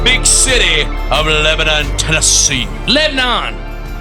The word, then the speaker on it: Lebanon: Lebanon. 2 syllables, baby. 2 syllables.